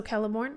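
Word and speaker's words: Celeborn: he's written the trees as a character oh celorn is it celorn or is it kellor I'm not sure that's a great um I hard K so kelborn okay thank you C is sarian and quena is pronounced K okay so a hard K was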